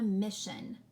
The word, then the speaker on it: mission: s i o n see that shun there at the end mission okay how about this